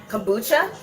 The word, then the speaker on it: kombucha: see this what is what is is it Kuka how do you say that word kombucha so I think it's B kuch it's over